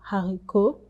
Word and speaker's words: haricot: Now, we tend to not pronounce the last words in French, especially when you see words ending in T. You will not pronounce it. For example, haricot, lait. We don't pronounce the T.